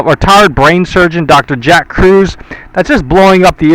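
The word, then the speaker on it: Kruse: Jack Cruz. However, Cruz is spelled K R U S E.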